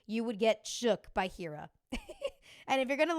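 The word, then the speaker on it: H33RA: would get Shook by Hira. And if you're going to look him up, it's H33 RA, but it's pronounced Hira. Like the threes are E.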